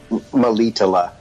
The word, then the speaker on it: Melitele: Melitele.